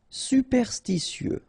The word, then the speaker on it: superstitieux: Superstitieux, okay, so final X not pronounced.